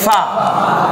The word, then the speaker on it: ف: فা ফা ফা ফা এই নিচের ঠোঁটের পেটের মধ্যে উপরে দাঁতটা লাগান দুই ঠোঁট মিলেন অনেকে